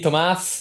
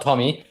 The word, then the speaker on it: Tomas: It's me, Tomas, not Tommy.